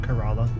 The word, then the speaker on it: Corolla: I think it's called corala I think it's called corala it's spelled like Corolla like the Toyota but it's ounc carala okay interesting anyway buy